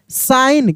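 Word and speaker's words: sign: यहां पे क्या है जी साइलेंट है यानी एस आई जी एन में जी का उच्चारण नहीं हो रहा है साइन क्या पढ़ेंगे साइन नियर अ ब्रिज।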